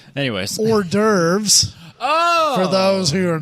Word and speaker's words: hors d'oeuvres: and eating our free horse divorce excuse me horse divorce that's I mean it's written right there on